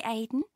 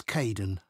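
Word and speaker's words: Kaeden: welcome to the team hi Aiden uh it's Kaden I'm so sorry oh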